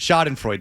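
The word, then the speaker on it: Schadenfreude: Shodden Freud. Shoden Freud. Shod and Freud. Thank you. I can never pronounce it about him.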